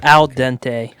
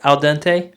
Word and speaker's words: al dente: alante uh pasta pasta al dante how do you say it Al uh Al uh Al Dente Al Dente Al Dente Al Dente yeah okay I said al